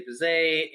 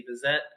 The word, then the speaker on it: Bizet: Apparently, like Americans sometimes say Bizet, and the British sometimes say Bizet.